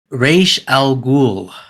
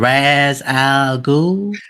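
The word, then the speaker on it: Ra's al Ghul: Now, the next one, I don't know if the ones who don't know how to pronounce his name, but it is Ra Al Ghoul. Say the other way, Mr. Raz Al.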